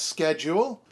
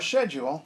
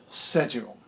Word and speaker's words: schedule: all three are correct for the second one you can say it's schedule or schedule but not schedule and that's just the way it is and if somebody's trying